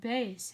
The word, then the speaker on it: bass: That's pronounced like bass as in baseball.